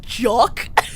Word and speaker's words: GOC: Actually, it's pronounced jock.